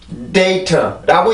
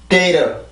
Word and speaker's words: data: 그래서 이 부분을 좀 주의를 해 주셔야 되고, 지금 이 단어를 읽을 때요, data라고 읽는 사람도 있지만 data, data, data 이렇게 읽는 사람들도 있습니다. 거의 대부분의 미국 사람들은 이렇게 읽는 것 같아요.